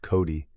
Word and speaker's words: Coat: On the other hand, there was Mrs. Coat, pronounced Cody, who was just about the meanest God had ever set down on the earth.